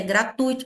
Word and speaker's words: gratuito: dei fica junto e gratuito também é gratuito, não é gratuito, tá? A pronúncia correta é gratuito, pelo amor de Deus, gratuito. Foi o capeta que inventou.